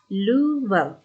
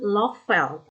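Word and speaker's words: Löffel: Misalnya Louvel, dibaca Louvel, bukan Lovel, tapi Louvel yang artinya sendok.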